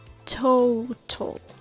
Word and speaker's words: total: these sounds into words total total turtle turtle little little if you want to sound more like american you might want to replace the t sound with a soft d sound like total total turtle